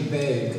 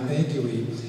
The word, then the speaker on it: vague: He said, "Every time you see the UE together at the end of a word, it's silent.